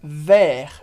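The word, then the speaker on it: vers: você já sabe que a gente fala ver sem pronunciar o s Porque como Regra geral a gente não pronuncia consoantes no final de palavras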